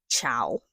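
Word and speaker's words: Chaol: Because the first time and also probably the second and third time that I read this series, I thought his name was pronounced ciao, right?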